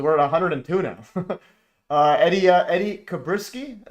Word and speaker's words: Kuberski: Eddie Kuberski. Is that how you pronounce it, Eddie? Yeah, Kuberski. Yeah. Kuberski. Okay, Kuberski. Yeah, I'm the worst pronunciation guy ever.